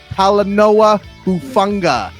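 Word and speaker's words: Talanoa Hufanga: not you keep shaking his name at least pronounce it right holla Noah hufunga how about how a Noah I never want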